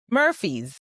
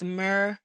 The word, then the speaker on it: Murfreesboro: Murphy's. No, it's Murfreesboro. 3 words? No, it's all one word.